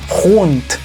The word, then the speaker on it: rund: Buta, These, Stadt, pero hay un cambio cuando la palabra en alemán termina con la letra D. Esa D se transforma en un sonido T. Rund, rund.